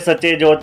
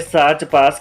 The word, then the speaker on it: सच्चे ज्योत: रास्ते में पड़ने वाले सच्चे ज्योत का गलत उच्चारण होने से इसे साच पास कहा जाता रहा है हालांकि गजट समेत